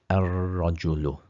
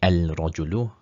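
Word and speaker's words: الرجل: drop the tanween, and this is a sun letter, so we would actually put a shadda on the ra, ar-rajulu. If we were to say al-rajulu in tajweed terms, that would be incorrect pronunciation.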